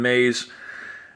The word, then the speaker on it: Myss: If you never heard of Carolyn Mays, it's Carolyn and then like Caroline, like Sweet Caroline, and then Mays is spelled Myss.